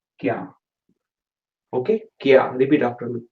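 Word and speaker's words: क्या: Okay, what, and the way you say it is kya. Okay, repeat after me, kya.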